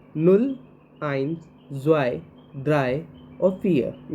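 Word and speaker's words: null: means nothing zero तो zero को कभी भी जर्मनी में प्रोनाउंस करते हैं तो उसको नुल कहते हैं नल एन यू डबल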